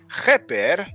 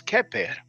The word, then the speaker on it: Kheper: from the Meduneter or hieroglyphic Kheper, that most people pronounce Keper, right?